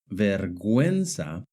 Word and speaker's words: vergüenza: For example, in the word guerra and guineo, the U is silent. But in the word vergüenza and in the word pingüino, the U is pronounced.